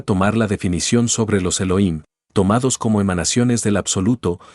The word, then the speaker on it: Elohim: un final masculino pluralizado la H tiene sonido se pronuncia como J de manera que su pronunciación exacta es Elohim si la palabra Elohim